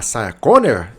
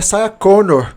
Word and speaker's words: Sarah Connor: Primeiro, antes de tudo, nós temos a Saia Conor. Ai, você está pronunciando o nome dela errado. É Sa Conor.